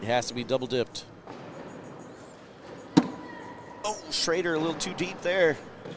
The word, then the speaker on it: Schrader: Oh, Schrader a little too deep there. Yeah, Michael Schroeder's the reason why I may say Steven Schrader's last name wrong. They're spelled the same, but pronounced different.